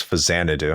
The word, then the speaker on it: Faxanadu: I thought it was Faxanadu. Mhm. No, it's Faxanadu.